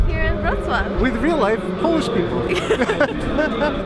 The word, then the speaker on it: Wrocław: Wrocław. You gotta roll the R. It's kind of hard though. Wrocław.